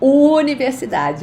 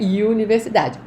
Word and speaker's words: universidade: Pay attention to the pronunciation of universidade, ok? Não é universidade, universidade.